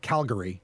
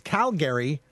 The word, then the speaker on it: Calgary: We are joined by an activist from Calgary, which I'm told is the way you pronounce it, not Calgary. It's Calgary, Alberta, Canada.